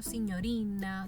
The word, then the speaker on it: signorina: Bien, así como hemos visto, por ejemplo, signorina, señor, señora. Esa GN se pronuncia como una ñ.